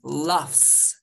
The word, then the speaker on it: laughs: He laughs.